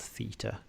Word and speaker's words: theta: unknown angle they use this letter called theta rhymes with cheetah uh so question b